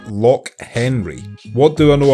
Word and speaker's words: Loch: ] in my life so yeah it's just like lock Henry but lock means Lake I'm a rapper hip-hop